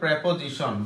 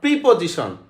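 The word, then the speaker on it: preposition: এটা নাউন, সিরিয়ালটা কিভাবে পড়ছে, noun, pronoun, adjective, verb, noun, pronoun, adjective, verb, তারপরে কি অ্যাডভার্ব, তারপরে প্রেপোজিশন, বারবার বলতেছে নট প্রিপোজিশন, উচ্চারণ হচ্ছে প্রেপোজিশন, ঠিক আছে।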